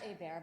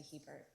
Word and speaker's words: Hebert: I'm Hebert-, actually not Hebert, but thank you, Yvonne, for giving me my French pronunciation, which if I was more classy, maybe I would use, but we long converted to Hebert.